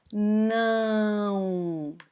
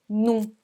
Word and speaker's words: não: This is the normal pronunciation of não, okay? Não. But sometimes during a speech between words, we can pronounce this word as this, num, as there wasn't an A, okay?